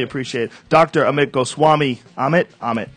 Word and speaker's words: Amit: Amit? Am I saying it right? Absolutely.